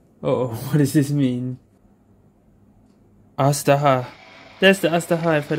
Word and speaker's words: Azhdaha: But if you recall Azhdaha, Azhdaha, that's how you pronounce it, okay.